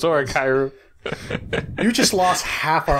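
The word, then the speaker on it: 俺ガイル: Is that actually how you pronounce it? No, it's Oregairu.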